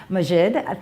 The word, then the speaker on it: Maajid: differently because you told me how it was pronounced and I'm now forgetting. I think your pursuit, I know what it is Maajid.